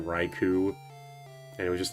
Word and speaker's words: Raichu: Like he was saying Ratata and like he was alternating between Reicho and Raichu and it was just like kind of annoying.